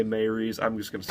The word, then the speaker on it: Maurice: maybe sigh i pronounced i pronounced the name maurice from the book I always said Maurice they say Mary's I'm just going to